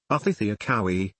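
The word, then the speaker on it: Očhéthi Šakówiŋ: Culture etymology: the Sioux people refer to their whole nation of people, sometimes called the Great Sioux Nation, as the Osheti-Sakawi, pronounced Othithiakowis, meaning seven council fires.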